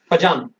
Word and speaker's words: Fajan: Spelling is FAJAN, फजान।